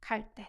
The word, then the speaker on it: 갈 데: 갈 때. This would be pronounced more like 갈 때.